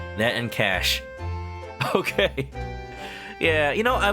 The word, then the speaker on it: cache: Cash. As a programmer, I cannot forgive myself if I ever pronounce that one wrong.